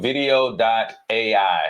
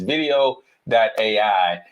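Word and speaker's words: Vidyo AI: going to go to video. a right I think I called it video. before it's video. a and it's spelled a little different VI d yo. a right if I just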